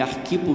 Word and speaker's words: Arquipo: Digam a Arquipo, é Arquipo mesmo, a prosódia, não é a pronúncia.